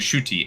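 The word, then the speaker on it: Ncuti: that name I'm sorry oh shooty it's literally a shooty NC UTI is it is a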